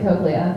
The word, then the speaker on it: cochlea: So most audiologists pronounce it cochlea, and by most, pretty much everyone except for one.